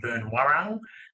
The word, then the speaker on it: Boonwurrung: R's on Boonwurrung, because a lot of people say Boonwurrung, and I've connected with some local custodians over the last year or two, and they've said they can't actually roll their R's, but I'm saying it correctly, so I'm pretty happy